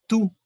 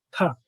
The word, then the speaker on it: to: Esto, guys, no se pronuncia tú, se pronuncia t. Ta. Yo digo que es una A cerrada.